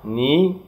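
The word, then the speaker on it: knee: فينجرز أصابع, ني ركبة, وطبعا الكي مش بنطقها, ني ركبة, ليج رجل, فيت أقدام, فوت قدم, تو إبهام القدم, هارت قلب, ليفر الكبد, برين مخ, سكال جمجمة.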